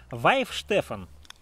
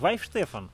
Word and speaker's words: Weihenstephan: ли не за выпуск вайф стефан хотя на бутылке написано в их успех hands free да не суть моих штефан читается так говорят правильно многие просили сделать этот